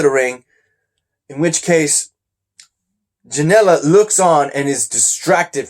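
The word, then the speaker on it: Janela: Janella. Sounds like vanilla. Janella.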